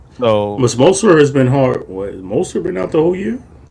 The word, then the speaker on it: Mostert: no, Mazert, or how do you say it? Mostert. Mostert.